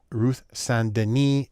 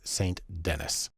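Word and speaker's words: Saint Denis: it should be pronounced Ruth sandini she's American so it's saint-denis the first thing we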